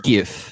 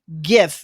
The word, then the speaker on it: GIF: This is whatever his name is, Derek from, Giphy, and it is pronounced GIF, not GIF." And I'm like, "You lie. It is not fucking GIF. It is GIF like the peanut butter."